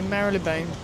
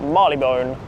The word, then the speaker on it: Marylebone: So on the Chilton line, you get Marilabone and on the Baloo line, you get Marley Bone.